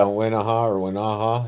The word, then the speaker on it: Wenaha: Now, without spoiling too much of the books in your Wenaha Henry children's book series, did I pronounce the name of that series correctly? Yeah, Wenaha, yep.